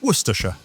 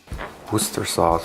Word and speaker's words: Worcestershire: A word that sounds like a sneeze. Correctly pronounced, Worcestershire. Worcester sauce or whatever you call that.